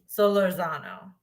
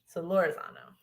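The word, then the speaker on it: Solórzano: Solorzano. So that emphasis is on the lore. Got it. Solorzano.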